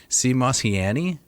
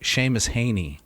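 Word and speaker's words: Seamus Heaney: deities particularly the um i'm going to mispronounce this cmos he annie oh oh sorry sheamus haney oh my god sheamus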